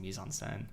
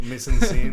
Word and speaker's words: mise en scène: Speed and I gotta shout you out for just like drastically mispronouncing mise en scène. Mise en scène. You're like mise en scene.